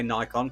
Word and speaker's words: Nikon: Nikon USA themselves, and I say Nikon because that's how Americans pronounce it, suggested that this camera, and I quote, "The D700 delivers breathtakingly rich image quality," and I totally agree.